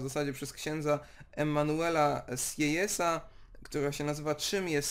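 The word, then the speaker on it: Sieyès: Emmanuel i tutaj Uwaga czyta się sesa a pisze się SJ w ten sposób okej no i 5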